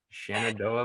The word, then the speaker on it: Shenandoah: Shenandoah Valley. What is it? Shenandoah Valley.